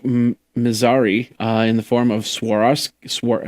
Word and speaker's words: Swarovski: comes from Isaac Mazari in the form of Swarovski how do you say that Swarovski yeah swarovski